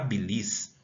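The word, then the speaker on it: bílis: A sílaba aqui tônica é o bi.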